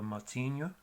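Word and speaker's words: Moutinho: Y otro ejemplo sería el apellido Motinho, que Mo, esa combinación de OU, suena más como una O solamente.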